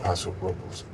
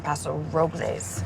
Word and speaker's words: Paso Robles: They call it Paso Robles, Well, the correct pronunciation is Robles.